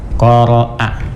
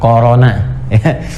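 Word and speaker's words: قرأ: Qara'a, ingat bacanya qara'a, bukan corona.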